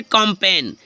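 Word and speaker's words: campaign: व जिस लेटर के नीचे अंडरलाइन है समझो साइलेंट है फ्रेंड्स नेक्स्ट है कंपेन क्या है कंपेन कंपेन मींस जानते हो कंपेन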